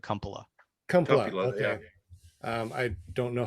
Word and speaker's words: Kumpala: want sean uh i my family pronounces it cumpala um i don't know